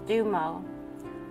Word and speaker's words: Dumo: higher consciousness the dumo symbol this symbol is pronounced dumo also known as Tibetan master symbol or Tibetan